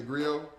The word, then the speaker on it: Griot: If you want to follow me, I'm on Instagram at TC The Grill. That's TC, the letters T and C, the, spelled like the, and Grill is spelled Griot.